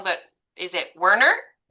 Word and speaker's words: Wernert: please correct me if I'm saying your last name wrong, but is it Wernern?